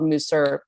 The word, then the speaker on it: Musar: why didn't you mention musar as if i had been a bad jew by not knowing it i had no idea what moussar is it's also called mooser it's pronounced two different ways and the more i